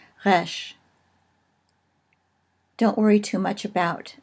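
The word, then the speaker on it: ריש: Finally, resh, which is like our R, only for Hebrew speakers, it's really a little bit more like a French R, kind of spoken in the back of the throat. Resh.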